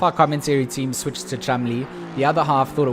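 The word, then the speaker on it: Cholmondeley: Cholmondili? Yeah, so the name is spelt Cholm. It's like it's spelt out phonetically Cholmondili. That's how you would read it phonetically.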